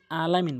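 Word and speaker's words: العالمين: ফাতেহার ওখানে আলহামদুলিল্লাহি রাব্বিল আলামিন বলে আলামিন জায়গায় হামজা উচ্চারণ করে ভুল অর্থ দ্বারা নামাজ ভেঙ্গে যায় আইন বলতে হবে জামা জামা তাহলে 29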